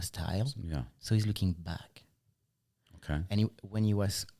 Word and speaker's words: BAAK: a madeup word and for us in French back b a a k and back B CK is pronounced the same so we get a